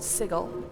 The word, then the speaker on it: sigil: I've actually heard and I've never said this, but apparently it's pronounced sigle. The correct pronunciation or at least the archaic pronunciation is sigle. I'm like, I'm not saying that. It's always been sigil to me.